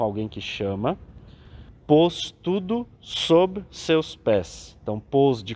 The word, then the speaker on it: sob: Pôs tudo sob seus pés. Então, pôs de colocar, e o sob, falando aqui com um B mudo, né?